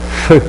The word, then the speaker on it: femme: Puis le FE de femme, en polarité négative ou féminine, ça se prononce feu.